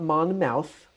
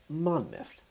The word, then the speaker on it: Monmouth: So not Monmouth, Monmouth. Western Oregon University is in Monmouth.